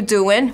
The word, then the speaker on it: doing: that sounds good and then say how you doing we don't pronounce the g how you doing how